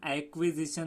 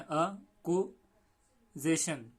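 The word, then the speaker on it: acquisition: तो इसको उर्दू मीडियम से हम एक्विजिशन ऐसा पढ़ सकते हैं, लेकिन इसका सही प्रोनाउंसिएशन अगर आप गूगल पे देखेंगे तो अ ऐसे पढ़ना है, अकुजेशन, अकुजिशन, अकुजिशन, अकुजिशन यानी कि परचेस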